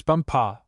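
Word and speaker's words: Bumpah: She became his chief wife and is now known out there as the crown princess bumpa. You accent the last syllable.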